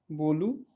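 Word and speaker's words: bolo: तो कोई भी शब्द पुर्तगाली में अगर ओ पे खत्म होगा तो उसका उच्चारण ऊ होगा, ठीक है, बोलू, या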